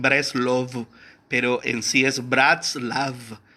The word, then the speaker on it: Bratslav: Y cuando pronunciamos la A como la E en inglés, entonces suena como Bratslav. Pero en sí el nombre es Bratslav. Y no hay ningún problema que le diga Braslav, Breslev, Breslov.